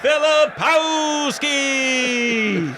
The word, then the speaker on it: Filipowski: And now, in the red corner, fighting from who knows where, and current champion of the world. How do you say it anyway? Filipowski. Well done.